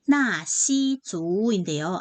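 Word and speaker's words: 纳西族: 중국어로 발음이 나시주인데요.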